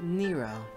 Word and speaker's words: Nero: an ego connection every one of them like Nero it's so weird that it's pronounced Nero not never scraper I find out